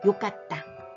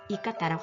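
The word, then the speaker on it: よかった: 겁니다 그래서 같이 발음할게요 욕 같다 요가 왔다 욕같다 좋았다 이런 말 되겠습니다 이거를 절대 이깟다라고 하지 않는다는 거 알아두세요 좋았다는 다시 한번 이렇게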